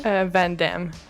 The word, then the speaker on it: Van Damme: Van Damme.